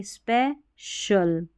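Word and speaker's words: special: तो सी आई एल इसको शल पढ़ना है क्योंकि जो सी आई है ना इसका श उच्चारण है श तो देखिए स्पै शल सो शल ओफी शल क्रू शल [नाक से की जाने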